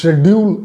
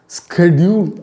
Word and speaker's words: schedule: இதை ஷெட்யூல் அப்படின்னு ப்ரொனவுன்ஸ் பண்ணலாம், ஸ்கெட்யூல் அப்படின்னு ப்ரொனவுன்ஸ் பண்ணலாம். உங்களுக்கு எது பிடிச்சிருக்கோ அந்த விதத்தில் நீங்கள் ப்ரொனவுன்ஸ் பண்ணலாம்.